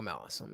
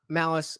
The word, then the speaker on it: Malice: check out uh uh michael malus is malice oh god damn it all right it's michael malus his name is michael uh malice and it's spelt like malice it's right up here